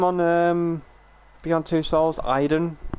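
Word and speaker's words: Aiden: um beyond two souls iden kind of like aidan but like pronounced idon that was so interesting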